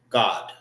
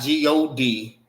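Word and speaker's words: גד: And how you say gad in the Hebrew? God. Not G O D, but God. God. D. God. Duh. Get it? God. All right. G O D is God.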